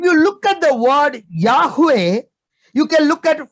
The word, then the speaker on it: Yahweh: So the pronunciation is Yahweh, but when we say Yehovah, है ना, लेकिन